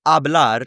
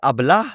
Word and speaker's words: habla: If we said hablar, right? You don't say habla, but you say habla.